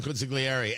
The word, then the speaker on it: consigliere: I want to go back to our conversation about wartime consigliere. And I get it. You're not supposed to pronounce the G, consigliere.